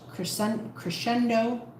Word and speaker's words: crescendo: crashing like the cres crescendo. Crescendo crescendo. Why does SC sound like sh? Why couldn't they just spell it that way?